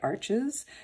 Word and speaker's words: Arches: So this is, and there's, I think it's pronounced Arsh. Some people say Arches, but I think it's Arsh watercolor paper.